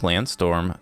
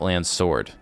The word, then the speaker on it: Landsword: So, that is uh what we have from Project Landstorm so far. Project Landstorm. Project Lands Sword. Help if you uh name yourself or you pronounce the name of the game you're playing correctly.